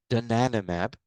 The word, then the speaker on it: donanemab: Later in 2023, a second anti-amyloid antibody, this one pronounced donanemab, was also published.